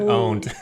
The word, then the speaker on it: pwned: You have to pronounce it owned.